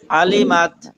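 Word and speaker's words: عَلِمَتْ: মা আহদরাত নাসির ভাই, আলিমাত আইনকে গলার মাঝখানে নিতে গিয়ে জটিল বানানো যাবে না। জটিল বানালে এখানে টান হয়ে যাবে, তখন আ হয়ে যাবে। স্বাভাবিক যদি আইন পরিপূর্ণভাবে উচ্চারণ করা সম্ভব নাও হয়, তবু স্বাভাবিক পড়ার চেষ্টা করতে হবে, জটিল করা যাবে না।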